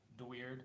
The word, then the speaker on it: Deweerd: But it's kind of funny, because, like, Deweerd, my last name's Deweerd. So you would be the weirdos, but not spelled like weird, spelled like W-E-E-R-D, like, you know, whatever.